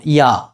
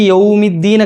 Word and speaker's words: يَوْمِ: യൗ അതൊക്കെ പലപ്പോഴും മാലിക്കി യൗമിദീൻ ഒക്കെ യൗമി എന്നുള്ളത് മാറിയിട്ട് വേറെ എന്തൊക്കെയോ പറയലുണ്ട് മാലിക്കി യൗമിദ്ദീൻ പറയുന്ന ആളുകളുണ്ട് യോമിദീൻ യോ അല്ല യൗ ആണ് യട്ടോ ഇതൊക്കെ പറഞ്ഞു തരുവ ഫാത്തിഹ നമ്മൾ കൃത്യമായിട്ട് റെഡിയായി കഴിഞ്ഞാൽ നമ്മുടെ ബാക്കിയുള്ള ഓതലുകൾക്കെ ഏകദേശം ക്ലിയർ ആകും.